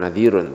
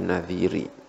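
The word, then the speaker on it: نذير: yopon Hai Na diri yang bacanya bukan nadirun tapi nah diri karena ada yag yang dibuang Hai keigo Valley pernah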